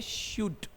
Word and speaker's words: should: silent था यहां भी एल साइलेंट इसका जो प्रोनंसिएशन है इंग्लिश में वो है शुड क्या प्रोनंसिएशन है शुड शुड इंग्लिश लैंग्वेज में एक